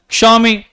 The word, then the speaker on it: Xiaomi: They don't know that the name of a company needs to be pronounced as Xiaomi.